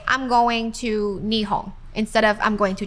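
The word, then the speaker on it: 日本: japanese it's completely different so we say japan in japanese called nihon nihong that's right so if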